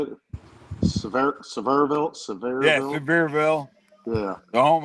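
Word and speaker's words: Sevierville: You asked 10 different people up here in that area how to say it once. Suburville. Severville. Yeah. Severville. It depends on how long they've been here.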